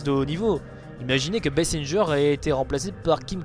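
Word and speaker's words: Basinger: d'une vraie actrice Kim bassinger bon je dis bien bessinger et pas bassing à la française on prononce pas la française alors pour ceux qui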